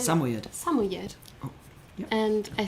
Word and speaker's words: Samoyed: Samoyed.